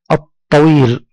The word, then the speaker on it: الطويل: ثانيا أنها جاءت بعدها لام مشددة تنطق وكأننا ننطقها مرتين، اللون. مثلا كلمة النوم، النوم، الطويل.